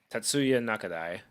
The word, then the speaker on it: Tatsuya Nakadai: Uh George Rex says by the way since you liked high and low I heard uh how do you pronounce that name? Tatsuya Nakadai.